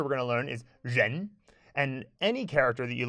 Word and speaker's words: 人: So something you need to know in Chinese is that many syllables end in en. And so the next character we're going to learn is ren.